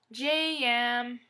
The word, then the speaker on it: Gem: But you have to say it like it has 2, like this, Jem. Jemima has 2 syllables. Actually 3. Say it like this, J-yam. Then she'll come.